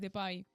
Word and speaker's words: Depay: radiofònic, m'ho haig de posar com es pronuncia, no m'haig de posar el cognom tal qual. Bueno, pues Depay.